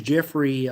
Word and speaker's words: Geoffrey: But um I just wanting to say my name is Jeffrey um with a G by the way.